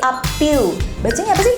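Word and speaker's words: A'pieu: How to pronounce it? A’pieu. A’pieu.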